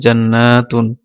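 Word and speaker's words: جنات: জান্নাতুন এটা হচ্ছে জান্নাতুন এটার উচ্চারণ হবে জান্নাতুন আলিফ এটা জন্য টানতে হবে জান্নাতুন আর এটা জান্নাতুন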